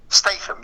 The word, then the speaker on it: Statham: How do you pronounce it? Jason Statham, correct? Yeah. Statham, correct?